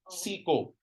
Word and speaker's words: siko: Okay, this one is not siko. Siko. It's soft o, siko.